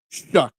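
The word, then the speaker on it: Shough: Oh, that's how you pronounce the quarterback drafted by the Saints. Gotcha. Shuck.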